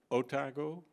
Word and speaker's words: Otago: pathology and biomedical science at the University of otago you pronounce it like that and in Christ Church